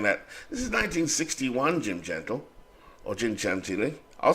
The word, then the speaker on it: Gentile: At first base is, I pronounce his name, Jim Gentile, which I believe is the Italian way of saying it, but I could be wrong. It could be Jim Gentile.